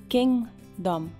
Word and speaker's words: kingdom: Is My Kingdom Kingdom A letra G você não vai pronunciar, mas você faz como se fosse pronunciá-la e no meio você desiste. Kingdom.